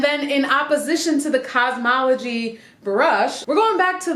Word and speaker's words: Kazmaleje: says those start with soaking wet hair it's pronounced cosmology cosmology brush it's got these huge grooves and